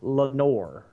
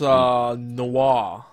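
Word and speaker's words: Noire: Or I'm saying L.A. Nori. I think it's pronounced Noir. Noir, whatever. It's a French thing.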